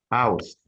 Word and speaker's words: aus: Okay, can you pardon again the pronunciation of that from in German language? Aus, aus, aus.